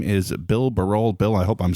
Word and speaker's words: Barol: the curve I think I was doing barrel for a while but Baro is correct it is technically correct yes well great before